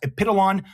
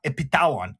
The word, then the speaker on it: Epitalon: And by the way, it's pronounced Epidolon, not Epitalon, okay?